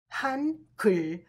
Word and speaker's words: 한글: Together, this sounds han kul, which means a Korean alphabet.